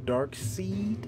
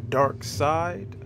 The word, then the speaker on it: Darkseid: going to be sketching dark seed or dark side however you want to pronounce it but it's really dark seed and um yeah i'm